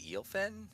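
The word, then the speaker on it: Eelfinn: It's the Eelfin? How do you pronounce it?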